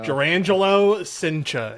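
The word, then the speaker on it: Jurrangelo: Hold on, I looked up the pronunciation. I know. Jurangelo Cincha is how Google says to pronounce it.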